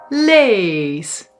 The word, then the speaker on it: lees: long ee or les a short e and lees a short a.